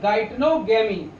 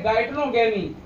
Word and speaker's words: geitonogamy: जी नहीं दिखाई थी तो मैं स्पेलिंग बोलता हूं, GEITONOGAMY, गाइटनोगेमी, ठीक है।